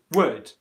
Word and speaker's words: would: but the answer to whether would is a long oo or a short oo was correctly given to me as a short word would would that's compared to who